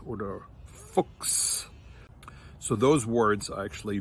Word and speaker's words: Fuchs: followed by an S, that sound is actually like a KS or like an X sound.